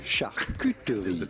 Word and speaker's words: charcuterie: Charcuterie. Charcuterie. Now in French, you'd say charcuterie.